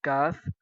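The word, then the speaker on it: ك: These two letters, qaf and kaf. Qaf letter is heavy letter, pronounced in heavy. Qaf and this letter kaf look like simple.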